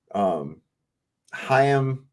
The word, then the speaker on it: Chaim: This is a Jewish professor, Chaim Bresheath, I think is how you say his name. You gotta say it like you're gonna huck a loogie.